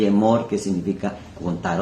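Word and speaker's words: אמור: Omer, que significa cuenta, y Emor, que significa contar o decir. Son las mismas letras, pero con pronunciaciones diferentes.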